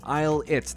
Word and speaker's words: ILLIT: And yes, you pronounce it ILLIT. They took out their apostrophe and their hyphen, thankfully, at least. But it is ILLIT, which is certainly something.